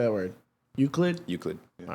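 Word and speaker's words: Euclid: Well, it's the thing that I said which was Uklid. So, it's definitely that. I guarantee it's Uklid.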